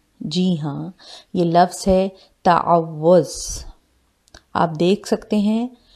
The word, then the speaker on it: تعوذ: آپ دیکھ سکتے ہیں واؤ کے اوپر شد ہے، تعوذ۔ اکثر لوگ اسے تعوذ پڑھتے ہیں جو کہ غلط پروننسیشن ہے۔ اس کا اصل تلفظ ہے، اس کی اصل پروننسیشن ہے تعوذ، تعوذ۔ آج کی اس ویڈیو